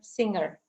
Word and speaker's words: singer: A lot of people pronounce it in the very same way, either finger singer or finger singer, but both are pronounced differently. You can recognize that if you put away that ER at the end. If it is an existing word, what is left, then you can't hear anything, singer.